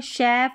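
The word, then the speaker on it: chef: का प्रोनाउंस करते हैं कि जिन वर्ड्स की उत्पत्ति फ्रेंच से हुई है तो उन वर्ड्स को हम श पढ़ते हैं।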